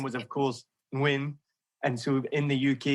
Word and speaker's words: Nguyen: which and his last name was of course win and so in the UK he would pronounce it nin up until then eventually he was 26 and